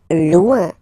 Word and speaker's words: loin: Loin. Loin. So remember when you get this combination O-I-N, it's ouin, ouin, ouin, okay? Loin.